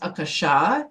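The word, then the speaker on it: Akasha: and the word aashik it's actually it's actually pronounced aasha is the pronunciation of it and it's Sanskrit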